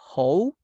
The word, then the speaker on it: how: this WH question because we don't say how, because that is like something not good. That is a bad word. So we say how, like vaca, cow, how.